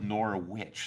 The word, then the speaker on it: Norwich: uh stubborn American way there is a Norwich near where my house is in rural New York and they all call it nor a witch so I have to